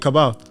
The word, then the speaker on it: Cabal: It's Skate Cabal. Oh no, you said it right. I said Cable. Oh, yeah, Skate Cabal.